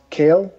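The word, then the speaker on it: Khale: This kid from San Diego State, I think his first name is pronounced Kale. It's K-H-A-L-E, yeah, Waring.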